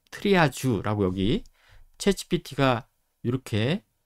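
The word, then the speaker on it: triage: 쓰는거다라고 보시면 되겠고 이거는 그래서 프랑스어 발음으로 트리아지 아고 여기 체치 비티가 렇게 해줬죠 그런데 실제로요 발음을 음성으로 클릭을 해 보면 트리아지 지에 가까워요 트리아지 예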